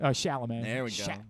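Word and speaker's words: Chalamet: Shalom. There we go. Shalamé.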